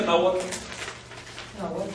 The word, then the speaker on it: Nahuatl: Otro valor de la H es carece de sonido cuando comienza la sílaba. Por ejemplo, Nahuatl. ¿Cómo pronuncia Nahuatl? Bueno, si aquí pronuncia la H como saltillo, ¿por qué aquí no? Debe decir nada.